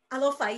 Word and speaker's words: Alofa: Am I saying it right? Alofa, yes.